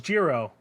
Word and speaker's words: Jiro: pronounce his name hmm it is Jiro but in a pronunciation I can't do because I'm a dumb American got it but it is a it is the hard J um I don't know